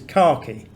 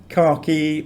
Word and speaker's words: khaki: k and kh and the only word i can think of that begins with kh is khaki khaki there's two syllables and they as far as i'm concerned both syllables start with the same letter this system of transliteration